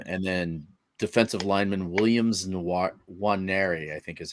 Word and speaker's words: Nwaneri: And then defensive lineman Williams Nwaneri, I think is how you say his last name. It starts with an N, but it's NW, so it's Nwaneri.